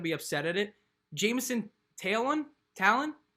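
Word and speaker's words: Taillon: upset at it jameson taylon talon i think it was talon right brennan taiyon okay all right at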